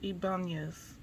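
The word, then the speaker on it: Ibañez: I'm trying to make sure to pronounce the ning. So Ibanez.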